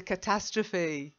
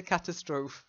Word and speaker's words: catastrophe: friend you see it it's very similar to the German words so the German pronunciation or Austrian pronunciation comes out just be careful catastrophe excellent very good